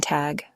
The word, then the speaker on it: Tag: For the middle of the day, we use guten tag. Guten. The G at the end of tag sounds more like a K.